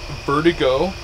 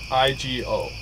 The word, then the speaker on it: Vertigo: Yeah, it's Vertigo. Yeah, it's like vertigo, like if you felt like you're gonna throw up or something.